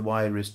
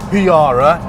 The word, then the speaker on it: Huayra: It's called the huayra, not the huayra or the huayra or the huayra. It's huayra.